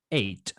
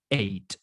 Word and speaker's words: eight: eight eight en inglés si vemos que una palabra cualquier palabra termina con estas siglas g h en inglés la gh se ignora no se pronuncia es como muda sol ante pronunciamos late es como si dijéramos hate por si acaso por